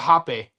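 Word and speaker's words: rapé: So it's spelled RAPE, but it's called hape.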